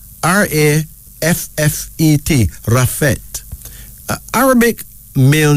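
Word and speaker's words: Raffet: is used most often for males then there's rafet r-a-f-f-e-t rafet Arabic male name commonly heard in Egypt meaning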